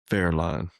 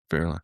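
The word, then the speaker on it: Wehrlein: It's uh Fairline. Fairine. I actually looked up the pronunciation and made sure I practice. So it is Pascal Vera. He's German. He's German.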